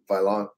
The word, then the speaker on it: Vaillant: Is it Valent or Valiant? Vaillant. Yeah, because it's not Valiant.